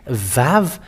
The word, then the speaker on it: vav: let's show it but the letter VAV is V indeed we can see it it is bigger on the screen VAV it is pronounced as V and it's in the